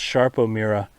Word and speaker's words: Sarpo Mira: look like sarpo miror but it is definitely pronounced sharpo Mira that's a beautiful plant to pull up right